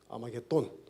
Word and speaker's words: 아마겟돈: 영어식으로 읽은 읽음인데 톤이 아니고 돈, D-O-N, 아마겟돈.